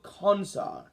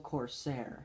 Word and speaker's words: Corsair: one's worse oh my goodness the 1958 edul consa do not quote us on any of these pronunciations it's no dude it's the edul Corsair corer okay I got it I got it